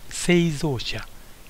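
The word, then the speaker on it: 製造者: followed by Japanese addresses the first one is pronounced seia it means manufacturer and whenever you see this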